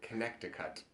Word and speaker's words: Connecticut: pronounce no that's awesome Connecticut yeah Connecticut did I say there's a c that you don't say yeah okay connect to cut right right so it's